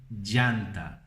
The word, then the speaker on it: llanta: Outra palavra é a roda do carro, nós chamamos de llanta. Então, para você pegar como se fala isso, por exemplo, tem o nome Diego em português, não? Diego, Diego, Diego, llegar, llover, llanta.